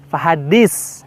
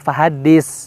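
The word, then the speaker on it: فحدث: terdapat huruf tsa ya Awas kita membacanya menjadi pakai Sin vadis nah ini keliru dan seringkali kita menemukan bacanya ada yang seperti itu Va hadits seperti itu ya baik sebagai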